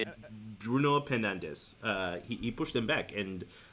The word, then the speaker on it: Bruno Fernandes: Bruno Fernandes.